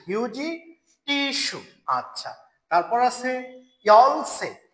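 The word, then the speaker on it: 열쇠: আচ্ছা, তারপর আছে ইয়লসে, ইয়লসই লেখা আছে, রাইট উচ্চারণ হবে ইয়লসে, ইয়লসে, ইয়লসে, ইয়লসে, ইয়লসে চাবি, ইয়লসে চাবি, ইয়লসে চাবি।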